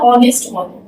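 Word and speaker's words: honest: हैं हम नेक्स्ट पे जैसे मेरा ऑनेस्ट ऑनेस्ट मेरा एच इसमें यहां पे साइलेंट एच जब साइलेंट है तो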